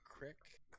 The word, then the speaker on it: creek: I posted a video of somebody running through a creek once on a four-wheeler that drowned. It's pronounced a crick, please.